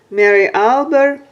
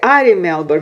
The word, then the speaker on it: Ari Melber: Mary Albert, how did I say? Ari Melber, Mary Albert.